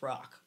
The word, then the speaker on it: Roch: we talked about saying roch and we couldn't figure out how it was pronounced oh yeah um my my ex-friend member hi e um she said saint rock is pronounced rock oh and he's the